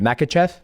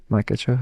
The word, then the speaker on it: Makhachev: How do you pronounce? I want to make sure I say your last name right. Makhachev. Makhachev.